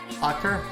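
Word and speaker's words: ochre: can just operate crayon i'm sure how to pronounce that word uh o-c-h-r-e that color i genuinely don't know ocker okay okay i will take evie's word on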